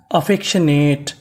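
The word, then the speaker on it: affectionate: टी ई। इसे पढ़ेंगे ट क्योंकि आखिरी में इ है। हमें इ का उच्चारण नहीं करना। तो पूरी मीनिंग अफेशनेट अफेक्शनेट अफेक्शनेट अफेक्शनेट का मतलब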